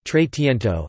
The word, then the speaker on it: trecento: the trecento Italian pronunciation trade Tinto Italian for 300 short